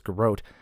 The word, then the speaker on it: Garrote: Now, the Steel Garrote, or Garrote, I pronounce it as Garrote, is a paladin order, and which a paladin is essentially a martial zealot.